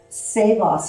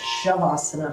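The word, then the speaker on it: Savasana: then let's do a saveos and it's the proper way to pronounce so we've been pronouncing it shavasana but it's which isn't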